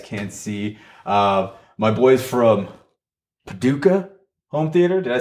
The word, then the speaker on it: Paducah: to him and you're like, hey, so how's Paducah doing? I was like, oh, that's how it's pronounced.